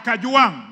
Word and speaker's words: Kajwang: Speaker, first of all, pronounce my name properly. I'm not Gachagua. I am Kajwang, not Kajwang.